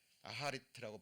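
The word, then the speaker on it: אחרית: 하나님 앞에 가야 됩니다 여기서 쓰였던 결국은 아하르트라고 발음이 됩니다만은 이것도 마지막 부분 이것도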